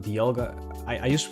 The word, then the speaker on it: Dialga: This is pronounced Dialga. I used to pronounce this Dialga, but I think that's because I'm Dutch, but I think it's like dial, right? Dialga because of a dial.